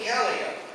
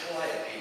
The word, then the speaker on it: Calliope: Now most people pronounce it Calliope today. Years ago, circus folks referred to it as the Calliope. There are two pronunciations listed in Webster's dictionary. Calliope if it's on a riverboat, Calliope if it's on a circus.